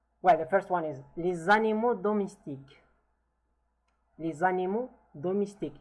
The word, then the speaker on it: les animaux: Well, the first one is les animaux domestiques. Les animaux domestiques. Here there is kind of lesion between them, which the S is pronounced as Z because it's followed by a vowel. Les animaux domestiques.